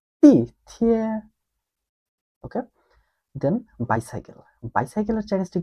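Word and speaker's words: 地铁: তো চাইনিজে বলে তি থিয়ে। তি থিয়ে। আমার সাথে আরো দুইবার উচ্চারণ করুন, তি থিয়ে। প্রথমে দেখেন ফোর টোন, দেন থার্ড টোন, তি থিয়ে।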